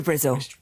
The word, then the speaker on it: Brizzle: It is near Brizzle. Rhymes with drizzle.